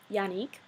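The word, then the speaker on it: Yanique: than my name because my name is um Yanik spell y a n i q u e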